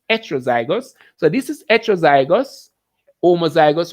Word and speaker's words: heterozygous: Heterozygous, it's spelled heterozygous, but it is heterozygous.